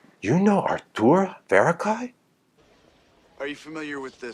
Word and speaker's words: Arthur Verocai: Artur Verocai.